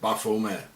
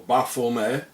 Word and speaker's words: Baphomet: Therefore the name should be pronounced without the T at the end. As the early Templars were French, and in French the T at the end is not pronounced, coming to the exact pronunciation in Demotic.